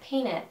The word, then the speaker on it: painted: wanna do you wanna and the word painted he pronounces like peanut painted dropping the tea do you want to